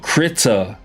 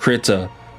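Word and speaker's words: Krita: It's called Crita. So, it's spelled K.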